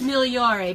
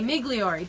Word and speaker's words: Migliore: My maiden name's Migliore, and if you had to pronounce it, you'd have a hard time too. Actually, it's Migliore, but most people would say Migliore.